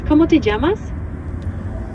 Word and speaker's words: ¿Cómo te llamas?: It's ¿Cómo te llamas? ¿Cómo te llamas? That's right. ¿Cómo te llamas? You pronounced it perfectly.